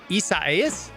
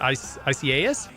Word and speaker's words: Isaias: I happened to glance up, and they have a hurricane tracking chart of this hurricane ICA, however you pronounce it, Isaias? It's three syllable.